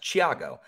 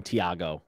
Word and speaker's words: Thiago: actually asked him he's he's from brazil so it's it it his name's actually pronounced chiago like ca yeah yeah